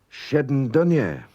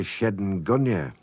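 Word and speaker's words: shenn dooinney: Shedden dunya. For reasons I won't go into here, a lot of people say shedden gunya, but it's wrong. It's Shedden Dunya, an old man.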